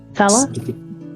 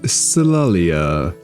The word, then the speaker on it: Solalia: Sala? It is Solalia.